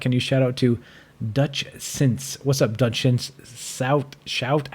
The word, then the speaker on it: Dutchsince: It's spelled DUTCHSINCE. Dutch Since, just like it sounds.